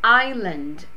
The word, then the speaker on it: island: On the island, esse S não se pronuncia, tá, gente?